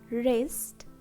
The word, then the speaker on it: wrist: So letter W is silent. Next, right, wrap, wrist, wrinkle, and wrote.